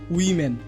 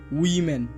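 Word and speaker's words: women: হবে ডেই ডেই উম্যান এটির উচ্চারণ উমেন না হয়ে হবে উইমেন উইমেন ইউজুয়ালি এটি ভুল উচ্চারণ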